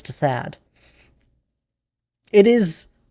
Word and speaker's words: Thad: Most people just call me Thaad. I go by Thaad and most people call me Thaad.